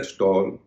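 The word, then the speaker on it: stall: फॉल seed फल एड हल एसटी ए ड स्टॉल एम एड एल मल एस एम ए डबल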